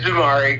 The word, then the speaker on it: Jamari: I have not met this gentleman myself, but I think it's Jamari. Am I saying it right? Jamari? Yes, it's Jamari.